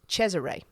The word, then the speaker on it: Cesare: So Caesar is the famous one. He's actually pronounced Cesare. So it's spelt like Caesar or Cesar.